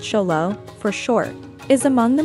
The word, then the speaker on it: Xolo: mexican hairless or simply the zolo pronounced cholo for short is among